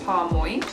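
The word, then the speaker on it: Parmoi: to shout out is, I think it's pronounced Parmoy. I don't know, it's P-A-R-M-O-I. Lol, I just realized that Parmoy is... Anyway, I really should have known that it's moi.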